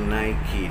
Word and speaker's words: Nike: merek-merek ini Nike Nike Jadi bukan naik tapi Nike dibacanya Oke kemudian Oh ya